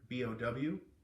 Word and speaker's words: bow: But first, I've talked to Diego about the proper pronunciation of the word BOW when referring to a boat, and he says it's like he talks, it's bow, like bow wow, it's the bow of the boat.